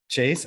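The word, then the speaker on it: chaise: on my chez lounge did i say it right caroline says i'm saying chase yeah drake i'll say it with a z chase shez that's it caroline says you said it correctly chase okay all right so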